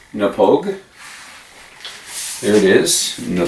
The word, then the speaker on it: Knappogue: to start off by telling you that it's pronounced nepogue there it is in the Pogue castle and